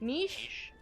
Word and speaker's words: niche: Niche? Yeah, niche. Rhymes with quiche?